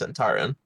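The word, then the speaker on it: Zhentarim: goes by other than the Black Network is Zentarum. I was curious how you were going to pronounce it. I assume it's Zentarum.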